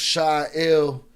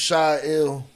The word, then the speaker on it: Shy Ill: Let me say it clearly once again. I am your host, Shy Ill. We're dealing with pronunciation issues when it comes to my name, so I will repeat it again. Welcome, my name is Shy